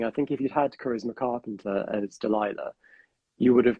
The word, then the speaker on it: Charisma Carpenter: So, and the role of Delilah was originally written for, again, sorry if I pronounce this wrong, is it Charisma Carpenter?